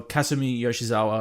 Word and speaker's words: Kasumi Yoshizawa: out, is, Kasumi Yoshizawa is her name, or Kasumi Yoshizawa, I should say, is the pronunciation.